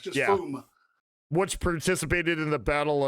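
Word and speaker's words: Fiume: Now, classic, please, for the love of God, help me out here with pronunciation. Flumen? Flumen? Fuma.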